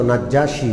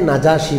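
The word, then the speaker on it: النجاشي: ছিলেন তার নাম ছিল নাজ্জাসী বাদশা কি নাম আমরা বাংলায় নাজ্জাসী বলি আরবিতে নাজাসী বলে নাজ্জাসী বলে না আরবিতে আরবি শব্দটা কি নাজাসী বাদশা তো বাংলায় যেহেতু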